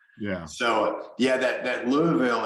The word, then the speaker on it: Louisville: so yeah that that Louisville it's interesting it's almost like the accent is on the first part of the word the Lou and then